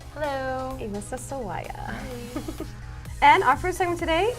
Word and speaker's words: Elissa Sawaya: Elissa Sawaya. Hello. Elissa Sawaya.